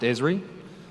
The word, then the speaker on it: Esri: of you may not know our company it's pronounced esri we're a location and mapping company we were actually founded in 1969.